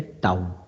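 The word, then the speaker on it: τ: एक चीज याद रखें इसका जो सिंबल होता ना व ऐसा होता है यह यह प्रोनाउंस किया जाता है टाउन ठीक और इसकी जो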